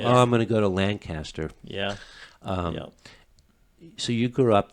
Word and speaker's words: Lancaster: when someone does not know lancaster because they pronounce it lancaster yeah that's exactly right is that right oh yeah so when someone says oh i'm going to lancaster no you're not you don't know where you